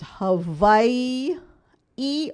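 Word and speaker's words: Hawaiʻi: and the state is hawaii e or hawaii the w can be pronounced as a w sound or a v sound so either way is correct there are two eyes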